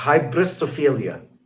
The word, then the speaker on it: hybristophilia: It's like hyperbistobrelia. It's a psychological term that talks about the fascination with essentially violence and an attraction to violence. Hybristophilia.